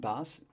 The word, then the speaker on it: DOS: uh quit to dose that's pronounced das um it's the operating system uh that games used